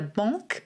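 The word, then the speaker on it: banc: benches in english because a bonk b-a-n-c is a bench in french hence the shara bank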